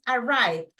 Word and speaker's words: arrived: Es como que arrive es en su forma base. Con la ed es arrived, una pequeña d al final.